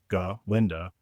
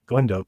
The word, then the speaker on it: Galinda: Galinda, not Glenda. Please pronounce it correctly.